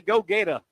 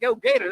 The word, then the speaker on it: Gator: and how do you say go Gator? Not go Gator, it's go Gator.